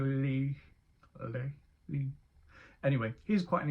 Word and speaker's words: Legh: I don't know how to pronounce it. It's Legh. I want to go with Lee.